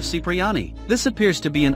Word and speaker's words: Cipriani: and 98 missions respectively Tony pronounces his surname as kipriani in the mission the pickup in GTA 3 instead of Cipriani this appears to be